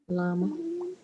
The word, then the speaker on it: llama: Remember, Doble L. double L or EJ. EJ. So EJ. So EJ. So that EJ. will make llama.